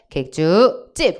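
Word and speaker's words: 객줏집: 발음해줘요. 시작. 객주집. 원래부터 된소리가 첨가된 사인수련사이고 표준어입니다. 시옷표기가 들어가죠.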